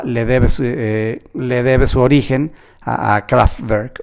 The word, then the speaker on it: Kraftwerk: Bueno, si es en inglés es Kraftwerk, o en alemán me parece que se pronuncia Kraftwerk.